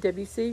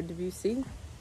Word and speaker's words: Debussy: was another composer named Claude Debussy or Debussy it's acceptable to pronounce it both ways he is what we